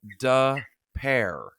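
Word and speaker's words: Des Peres: d-e-s-p-e-r-e-s she said so the town is pronounced like da pair like d-u-h and then pair p e a r to pair okay I'm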